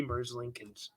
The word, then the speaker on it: Merzlikins: I looked at the Google pronunciation. I might be Merzlikins.